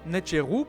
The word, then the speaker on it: nṯr.w: tes colloque pour finir net giroud prononcé nature où est le pluriel